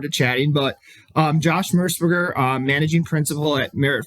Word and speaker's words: Mersberger: And I'm very very pleased to welcome Josh Mersburgger. Am I saying that correctly first Josh? Because I don't want to get your pronunciation wrong.